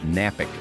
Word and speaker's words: Knapik: shows once again knapik radio shows that K is silent still napping checking out